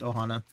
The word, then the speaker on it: Ohana: He's just Ohana. Ohana? At least I know him as Ohana. I don't know why he threw the P in there, but...